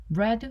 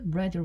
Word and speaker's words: read: 사요 가 아니라 read read read 읽어야 됩니다 스펠링은 똑같은데이 과거 시랑 과거 분사 p 형태 소리 낼 때는 우리 빨간색 할 때 레드라고 하죠 요거 같은 소리로 소리 내 주셔야 됩니다 우리 완료 이야기하는 중이죠